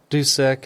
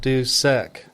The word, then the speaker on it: Dusek: draw out somebody's name so doick instead of do sick yeah dock okay got